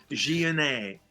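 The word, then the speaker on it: Gionet: that I pronounce his Jeanette. And Jeanette. if you're Oh, French, you okay. would say Jeanette. Yeah. Jeanette, yes, it's in French.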